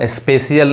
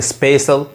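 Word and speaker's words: special: यहां पे देखिए अब इसको स्पेशल स्पेशियल नहीं स्पेशल नेक्स्ट देखिए सोशियो यानी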